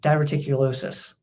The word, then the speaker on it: diverticulosis: gone into diverted VI diverted how do you pronounce that dulosis diverticulosis I know digest spelling I know digest is